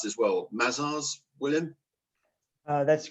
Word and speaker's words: Mazars: Now, I need to pronounce this well. Mazars, William?